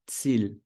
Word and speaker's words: Ziel: Então, Ziel. Tem I, e logo depois tem a letra E, então soa como I.